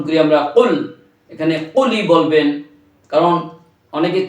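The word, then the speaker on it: قل: ও কুল, এই কর উচ্চারণ দেওয়া ছোট কফের উচ্চারণ আমরা করে ফেলি, কিন্তু অর্থ দারুণভাবে নষ্ট হয়ে যাবে। কারণ বড় কফ দিয়ে কুল, আল্লাহ পাক বলছেন হে রাসূল আপনি বলুন আল্লাহ এক।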